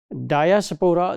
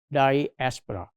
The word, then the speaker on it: diaspora: So if you want to become part of some diaspora I means diaspora, this is wrong pronunciation, this is diaspora.